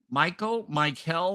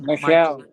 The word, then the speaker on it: Michelle: Is that pronounced Michael? Michelle. Michelle. I was thinking Michelle.